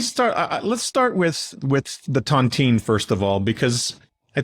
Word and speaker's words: tontine: Let's start with the tontine first of all, because I think, on the surface, it sounds like a really delicious French pastry, but clearly it's not that. What is the origin of the tontine and how does it work?